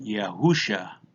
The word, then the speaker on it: Yahusha: Here on the bottom we have the name of the Son, Yod, He, Wah, Shin, Ayin, pronounced Yahusha.